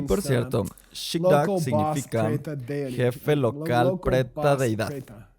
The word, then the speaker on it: gzhi bdag: Y es pronunciado Shibdak. Pronunciamos la B, Shibdak.